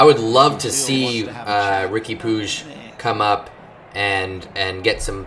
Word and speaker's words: Puig: In America, we would just pronounce that Puig because of Yasiel Puig, the baseball player. But in Catalonia, apparently it's pronounced Puig. Puig.